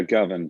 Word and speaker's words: Govan: How do I pronounce this? Is it Govan? Yeah, Govan, Govan.